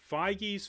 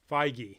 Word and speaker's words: Feige: EI is I, Heinlein. Feige. All right. So, I'm guessing it's German because that's the I'm going with pronunciation. Faja, like the yogurt.